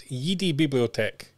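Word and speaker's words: Jedi-Bibliothek: Florian Bauer as well from, I'm going to pronounce this correctly because it's not pronounced as you imagine, it's Yidi Bibliothek.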